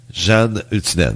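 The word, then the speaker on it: Janne Huttunen: Jeanne Hutinen. Bon. J-A-N-N-E. Hutinen. C'est écrit comme ça se prononce.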